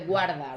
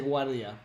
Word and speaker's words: guarda: Los vinos de guarda, right? Is it guarda? Yeah, I always say it wrong. I say guardia. Guarda. Yeah. Guarda.